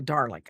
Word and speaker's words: Dalek: Oh, a Dalek.